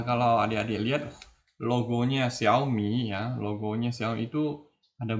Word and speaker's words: Xiaomi: tidak tahu bacanya Xiaomi Xiaomi sebenarnya itu bukan Xiaomi ya sebenarnya adalah Xiaomi nah Xiaomi itu dari